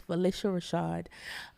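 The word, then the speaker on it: Phylicia Rashad: Rashad and it is people think it's Felicia it's Felicia that is from her mouth it is pronounce Felicia Rashad um she is just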